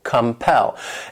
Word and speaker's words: compel: This word has 2 syllables and the stress is on that second syllable, compel.